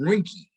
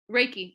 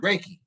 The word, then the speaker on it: Reiki: Um, I had a procedure done to me that was it's called Rinky. I guess I'm pronouncing it right, but it was a touchless massage. Reiki. Uhhuh. Reiki.